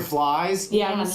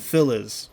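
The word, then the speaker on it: Phylz: Flies.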